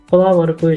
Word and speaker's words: plumber: र प्लमरको spelling PLUMBER भयो भने यसको उच्चारण प्लमर हुन्छ।